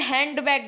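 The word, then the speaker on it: handbag: जैसे हैंड बैग, देखो यहाँ पे जो अमेरिकन इंग्लिश स्पीकर होते हैं, अमेरिकन स्पीकर अगर आप किसी अमेरिकन से मिलेंगे तो वो उसको हैंड बैग नहीं पढ़ेंगे, वो इसको क्या पढ़ेंगे पता है, ये उसमें डी को पढ़ेंगे ही नहीं।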